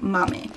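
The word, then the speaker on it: Maame: you how to pronounce it correctly this one's pronounced Mommy so it's not Mommy it's not Mame it's a novel by Jessica George every single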